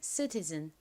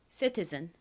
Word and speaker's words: citizen: 끝에는 Z 소리 나는 ZEN을 써주시면 citizen 완성입니다. 발음 연습 같이 해볼게요. citizen, citizen.